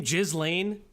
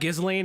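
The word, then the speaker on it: Ghislaine: That's how you say her name. Jizlane. It's not Gizlane. It's Jizlane.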